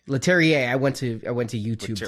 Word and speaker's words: Leterrier: Louis Leterrier? Leterrier.